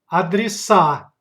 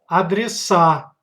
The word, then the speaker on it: адреса: Plural, адреса. Pay attention to stressed syllable. Адреса, адреса.